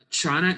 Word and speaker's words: Qin: to talk about the Chin Dynasty I know it looks like it's pronounced Quinn but it's actually pronounced chin and they were around